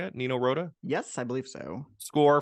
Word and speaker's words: Nino Rota: Nino Rota?